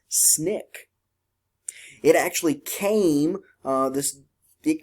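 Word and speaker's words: SNCC: Nonviolent Coordinating Committee or we pronounce that abbreviation as snick it actually came this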